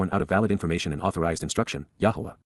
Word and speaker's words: Yahweh: Yahweh. Yahweh. The proper pronunciation of the name of Hiloah, God, as directed in his Torah.